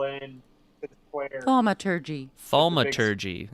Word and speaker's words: Thaumaturgy: Thaumaturgy is how you say it.